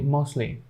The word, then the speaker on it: mostly: So this word will be mostly.